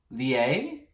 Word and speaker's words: Lier: Sanchez, Gerard Brady, Cynthia Jill French, Chan Woo Jung, Christine Landis, Jean-Christophe Lier, spelled like lie, but I'm sensing French.